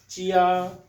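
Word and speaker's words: jiā: तो हम इसको प्रोनाउंस करेंगे, अगर हम इसकी मैं यहाँ पे उर्दू में राइट करूँ तो it will be आ चिया चिया।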